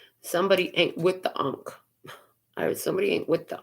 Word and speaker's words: ankh: know is the unk somebody doesn't know how to pronounce ankh right they call it ink somebody ain't with the ankh or somebody ain't with